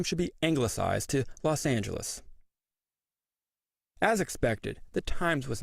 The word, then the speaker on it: Los Angeles: came to a verdict the official pronunciation would be Los Angeles the mayor announced a